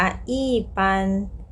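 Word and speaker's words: 一般: คำ ต่อ ไป ค่ะ อี บวก ด้วย เสียง 1 ก็ ต้อง กลาย เป็น เสียง 4 ค่ะ ทุก คน ก็ ต้อง อ่าน ว่า อี้ ปัน อี้ ปัน ถัด มา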